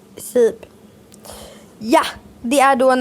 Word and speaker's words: Seeb: S-E-E-B. Vad hade du sagt? Jag hade sagt antingen Sib eller Seeb. Nej, det var ju Sib, säger vi. Sib.